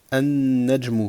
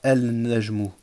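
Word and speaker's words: النجم: An-najmu. Vous voyez ici, il y a l'article alif wal lam. Mais vous m'entendez pas prononcer le lam. Je dis pas al-najmu. Non, je dis an-najmu.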